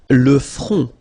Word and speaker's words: front: Le front. Final T not pronounced. Le front. Okay, remember this nasal on, on. Le front.